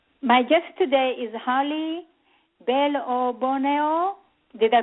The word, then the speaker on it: Bellebuono: show I'm uh my guest today is Holly Bono did I pronounce it correctly Holly yes yes bellono you got it i' I've been working on